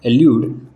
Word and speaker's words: allude: एल्यूड, दोनों words के pronunciation same है।